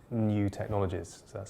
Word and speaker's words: NIU: listed chinese company called new technologies so that's spelled niu but pronounced new and that's a company